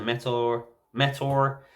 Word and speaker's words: Memnite: We have Memnite as Metal, as a Metor. Even though it says Metal, you pronounce it Metor.